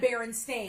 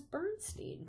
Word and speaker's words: Berenstain: She said Berenstain. Because she's very like, When they were kids. yeah. So that was like. And I remember thinking in my head, like, oh, that's how you pronounce that shit. I thought it was Bernstein.